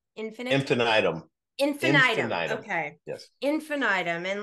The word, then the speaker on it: infinitum: to asylums we could increase the list add infinum I think is how you pronounce it and isn't well how is it pronounced infinite infinum infinite okay yes infinitum and like here are just all these methods